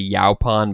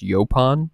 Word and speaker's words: Yaupon: You might say Yaupon, but I've heard it mostly pronounced Yaupon holly.